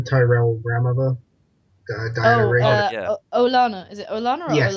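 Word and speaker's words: Olenna: Olana. Is it Olana or Yes, Olena? yeah, Olena. yeah. I By far my I never favorite know how character. to pronounce stuff because when I read the books, I Mm.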